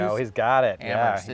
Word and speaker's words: Amherst: Today I'm in Amherst, Massachusetts with my client Tory Chlanda from Better View Landscapes.